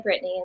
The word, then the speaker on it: Brittainy: Just say Brittany.